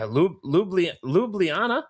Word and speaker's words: Ljubljana: I'm like, okay, apparently the J is silent, but wow, okay. So yeah, Ljubljana. Yes. There's 2 J's there.